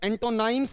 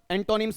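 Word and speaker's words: antonyms: ऊपर वाला क्या है आपका एंटोनिम्स, एंटोनाइम्स नहीं होगा, क्या बनेगा ये आपका एंटोनिम्स बनेगा।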